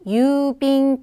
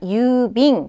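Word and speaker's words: 郵便: 이렇게 읽으면 되고 그다음 운송수단과 관련될 때는요 얘를 빙으로 읽어요 그래서 배로 보내는 거 배편 그다음에 항공편 지금 나오는 우편 이런 것들은 다 이제 빙으로 읽어 주시면 돼요 지금 유빙이 나왔고요 하나만 더 적을까요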